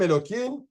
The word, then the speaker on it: Elokim: sonne ce chauffageemokim Hashem Elokim qui représente Dieu qui est présent dans ce monde d'ailleurs même qui a marqué mais on le prononce Elokim ça des point pourquoi